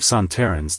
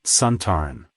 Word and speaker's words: Sontaran: the original Sontaran, Lynx, pronounced the race's name as Sontaran. Alan Bromley, the director, tried to correct him by saying it should be pronounced with the stress on the first syllable.